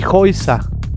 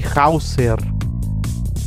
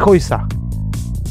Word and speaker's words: Häuser: Die Häuser es el plural de casa, las casas. Die Häuser no se dice die Hauser. Die Häuser. Häuser. Entonces esta A junto a la U se pronuncia como O-I.